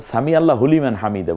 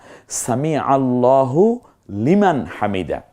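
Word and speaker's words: سمع الله لمن حمده: বলবো না সামি আল্লাহ কারণ আল্লাহ শব্দের পূর্বের অক্ষরটা জবর যুক্ত হয়েছে এইজন্য আবার আমরা সামি আল্লাহ হুলিমান হামিদা বলি না সামি আল্লাহু লিমান হামিদা খুব চমৎকার উচ্চারণ করতে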